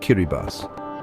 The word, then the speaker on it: Kiribati: rather unique geographical claim, Kiraabadi, pronounced Kiribas.